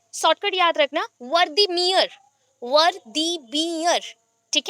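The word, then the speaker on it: Wertheimer: और एक है, शॉर्टकट याद रखना, वर्दीमियर, वर्दीमियर, ठीक है, और बोल सकते हो वर्दिमर, एक साथ बोलो पहले, वर्दिमर, फिर स्पेलिंग देख लेना वर्दिमर का, WERTHEIRMER है, वर्दिमर, ठीक है।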